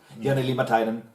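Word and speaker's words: Jani Liimatainen: Jani Limatainen.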